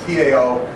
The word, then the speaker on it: Tao: when you encounter the Tao. The T-A-O, or the Chinese sometimes spell it D-A-O, but it's pronounced Tao, which is the eternal way of the universe.